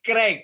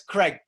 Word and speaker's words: Craig: So Craig is a diphthong in English that is almost impossible for native Spanish speakers to pronounce.